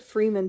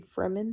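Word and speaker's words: Fremen: I said Freeman too in like my first video, but it's actually Fman. That's how they said it in the movie.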